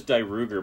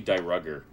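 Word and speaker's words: Dairugger: I always thought it was Die Ruger, but it's actually Die Rugger. It's Die Rugger. Yeah, it's Die Rugger would be, yeah. Yeah, I've heard everybody else call it Die Ruger. I know. That's how you say it. I'm just going by how the guy who sings the theme song pronounces it, so...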